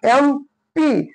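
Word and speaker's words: MP: कॉजोन पासून आहे पण याचा उच्चार कॉन्सोन नाही बघा याचा उच्चार काय एम प असा होतो एम प म ए म्हणजे आर्टिकल आहे ए म्हणजे काय आपल वेल आहे म्हणून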